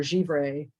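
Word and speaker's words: givré: give uh glass g-i-v-r-e and America we pronounce it gave her a give Ray J or jivray which is not the way the French would pronounce it so my apologies but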